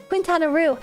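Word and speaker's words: Quintana Roo: That's such a funny pronunciation. Wait, what do you mean? Cohen Quintanaroo. That's how you say it. Quintanaroo.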